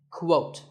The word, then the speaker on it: quote: is the word quote this is not pronounced the same as coat the correct way to say it is with a Kuh sound at the beginning quote similarly we have quotation